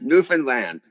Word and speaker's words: Newfoundland: called with the pronunciation by saying understand newfoundland understand that works why didn't we go